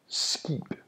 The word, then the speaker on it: skib: Finally, if K is placed in the middle of the word, it is pronounced as a G. Remember that K is pronounced ko, ko, and G is pronounced ge, ge. A ship in Danish, it's called a skib, it, skib. And this is a G sound, not a K sound. If I were to pronounce a K sound, it would be skib. But I'm using a G sound, skib.